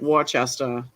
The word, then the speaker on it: Worcester: you're talking about like Worcester looks like Wester yeah lemoner looks like